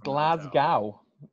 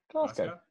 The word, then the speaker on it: Glasgow: go to the airport glasgow that's not how you pronounce it buddy pronounce it for me glasgow so you just drop the w it's just one word mate glasgow glasgow yeah there